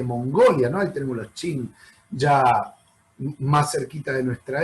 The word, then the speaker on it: Qin: Los Qin se escribe con Q de queso, Qin.